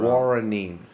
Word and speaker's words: guaranine: Guaranine.